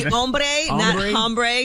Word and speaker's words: hombre: the word would be hombre because they don't pronounce the h in spanish that means white man